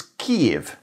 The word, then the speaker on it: Kyiv: If you want to know how to pronounce the name of the capital city of Ukraine in English, it's Kyiv.